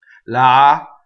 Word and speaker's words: lagrimar: What we tend to do in English is we let an R harmonize a vowel, because that's what we do. We say car, right? And the R bleeds into the vowel. The R actually takes the vowel over very slowly. That does not happen in Italian. Lagrimar is what really happens.